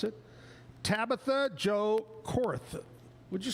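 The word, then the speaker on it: Koerth: believe is how you pronounce it, Tabitha Joe Cor, would you say? Cor. K O E R T H. Cor.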